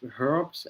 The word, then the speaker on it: herb: we yeah they are so the thing about uh the the word herb or herb depending on where you are it's herous yeah it's a it's a yeah yeah so American varieties of English tend to drop the H in the word herb but not in other der derivatives so Americans us say herbaceous and herbivores but the word HB they usually just pronounce as herb yeah I